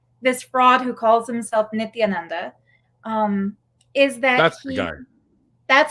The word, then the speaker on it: Nithyananda: the cult of this fraud who calls himself nithyananda um is that that's how you say it